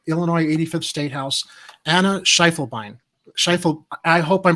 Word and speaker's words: Schiefelbein: pronounce your last name it's three sounds she full vine schiefelbein i my apologies i'm